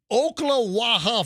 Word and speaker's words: Ocklawaha: Again, this is Ocklawaha. You know that? Am I pronouncing that right? Ocklawaha, Florida.